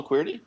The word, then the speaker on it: Queerty: while but it's qu it's queer it's spelled qu e e RT Y and of course it's a take on the keyboard the QWERTY keyboard not everybody knows that